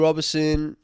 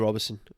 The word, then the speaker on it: Roberson: robertson yeah just type it here roberson and it's my last name is spelt r-o-b-e-r-s-o-n there's no i there's no t in it robeson just spell it